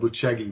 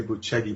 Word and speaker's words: Bucegi: Well, the claims are that in the mountains of Bucegi, it's spelled Bucegi, we'd say Bucegi, but they say Bucegi, and that's in sort of on the border.